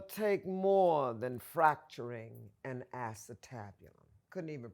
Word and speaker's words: acetabulum: You got to understand, it'll take more than fracturing an acetabulum. Couldn't even pronounce the word. It's an acetabulum.